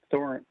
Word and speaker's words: Thoresen: So now that you're no longer just regular, you're Thoresen. Am I pronouncing it right?